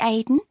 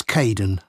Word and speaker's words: Kaeden: Hi, Aidan. It's Caden. I'm so sorry. Oh, don't worry. People often get my name wrong.